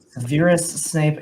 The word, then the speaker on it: Severus Snape: and Jim Severus Snape Severus Snape is the correct pronunciation so Jen will get